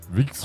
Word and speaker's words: Wikström: Wikström. Holy cow, he's just got that tongue roll. Wikström.